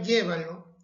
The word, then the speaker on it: llévalo: Sin embargo, la palabra llévalo es esdrújula, pues lleva la mayor fuerza de voz en la antepenúltima sílaba.